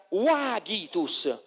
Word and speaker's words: vagitus: Oppure il linguaggio del bambino, il pianto del bambino, si scrive Vagitus, ma se la V non esisteva era Wagitus, che è il verso onomatopeico del pianto del bambino, Wa, è chiaro?